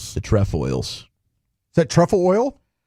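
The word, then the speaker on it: Trefoils: Number 10 is the TFOs on the alltime best Girl Scout cookies list. That's one of the OG Girl Scout cookies. TFOs. The Tfoils.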